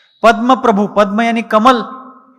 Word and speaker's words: पद्म प्रभ: वह बिल्कुल गलत है चंद्र प्रभु नहीं चंद्र प्रभ पद्म प्रभु नहीं पद्म प्रभ चंद्र प्रभु कहेंगे प्रभु यानी मालिक स्वामी जो चंद्र के स्वामी है वो चंद्र प्रभु पद्म प्रभु पद्म यानी कमल जो